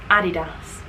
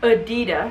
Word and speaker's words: Adidas: one there we go there's a boy saying it adidas here's a girl saying it adidas there we are not adidas it's not adidas guys come on the trouble